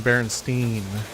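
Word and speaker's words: Berenstain: and Discord and see I grew up saying Berenstein like with two e's well you say bernst and bears but like it's spelled with an a it always was in the book well well you just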